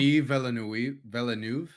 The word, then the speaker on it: Denis Villeneuve: How do you pronounce his last name? Denis Villeneuve.